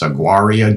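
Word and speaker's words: Auraria: And then I think it's pronounced Aguaria, Georgia, which is listed, if you look it up online, it's listed as a ghost town.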